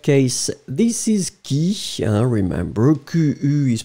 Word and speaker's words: qui: Alors, in that case, this is qui, remember, Q-U is pronounced like K-K-K, and then E is pronounced like E, so qui.